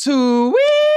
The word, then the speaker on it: Sui: If you watch Deliverance, it's pronounced Sui.